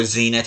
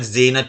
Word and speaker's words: Zenit: Or Zenit, however you pronounce it. I've always said Zenit, but apparently it's pronounced Zenit.